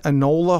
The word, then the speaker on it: Enola: Enola Holmes?